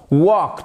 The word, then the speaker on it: walk: Voyez que le L ne se prononce pas.